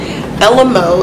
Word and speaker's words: Elemo: This unit is from Elemo, is how I'm going to pronounce it, E-L-E-M-O hair.